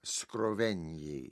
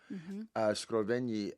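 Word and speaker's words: Scrovegni: Called the Capella Scroven. Scroven like GN is pronounced like million in Italian. Okay. Like G L is the same way. Scraven.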